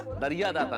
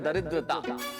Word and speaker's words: दरिद्रता: दरियादाता नहीं। इस शब्द का उच्चारण है दरिद्रता।